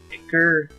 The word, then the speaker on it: ichor: I can fill it with brutal ichor. Okay. That's pronounced Ichor.